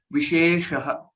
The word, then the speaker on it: विशेषः: So visheshah, there was only a slight it was not accurate with respect to the pronunciation of this second letter, she, visheshah. Okay, so apart from that, well read.